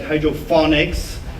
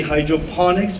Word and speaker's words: hydroponics: They always say like hydrophonics. It's actually hydroponics, because phonics means comes from phono. In Greek, it means sound, and it's like telephone, microphone. So it's not that.